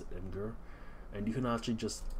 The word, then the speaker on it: Imgur: I pronounce it Imgur.